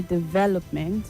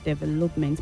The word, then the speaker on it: development: You say development and not development. Please take note. The stress is on the second syllable for that word.